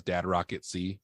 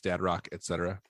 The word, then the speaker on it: Dad Rock Etc.: Which I always think says Dad Rock at C, but it's Dad Rock Etc. It's spelled out, etc.